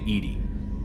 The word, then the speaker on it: EDI: have a specific inquiry why are you named edie edie is the phonetic pronunciation of edi that is an acronym for